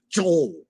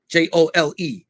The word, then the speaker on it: Joel: It's not Joel. Jole is the way they pronounce it. Anyway, sidebar.